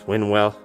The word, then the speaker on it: Winwell: Winwell, this new version sport, this trilogy.